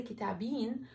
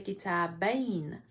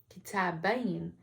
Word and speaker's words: كتابين: And in this example, the ya is pronounced as a letter, not a long vowel. So we won't say كتابين, we have to say كتابين, كتابين.